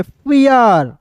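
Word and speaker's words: fear: एफ का फ इ आर है तो इसका उच्चारण इर के रूप में फियर बी ई आर को वियर यानी कि अर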